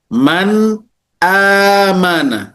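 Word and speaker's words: مَنْ آمَنَ: Maka cara membacanya dijelaskan dan tanpa ditahan. Kita baca man amana. Man amana. Tidak ada tahannya, tidak ada sesuatu yang ditahan cukup lama. Tidak boleh ditahan man amana.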